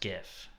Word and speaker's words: GIF: I'm pretty sure it's pronounced GIF. Hey, I heard the person that created the GIF file is pronouncing it GIF, so I'm sticking with that.